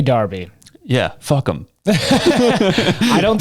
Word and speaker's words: Derby: And they said the line is when you start pronouncing Derby as Darby. I say Derby.